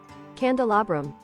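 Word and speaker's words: candelabrum: maybe um I can't find the British pronunciation that's very strange well let's see what it sounds like candal Abram okay thank thanks thanks Brave cand candal abam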